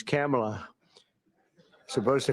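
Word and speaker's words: Kamla: first name that we have, but fortunately it's pronounced different. It's Kamala, as opposed to Kamala.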